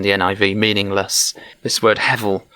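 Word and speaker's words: הבל: And so this is where the transliteration of the Hebrew words into English is written with a B, but actually it should be pronounced as a V. So actually Abel should be something like Avel.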